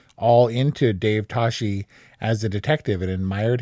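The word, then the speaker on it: Toschi: Tashi Tatski Tashi uh Tashi mispronounced throughout as TSI but this was actually the inspiration for George Lucas who really took to this case and was like all into Dave Tashi as a detective and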